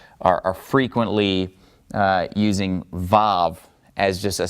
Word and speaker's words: Vav: So just think of Vav as being either a V sound. If it's pronounced as a consonant, it's going to be a V sound. Otherwise, this one could be silent. So just be aware of the fact that this one is sometimes a silent letter, Vav.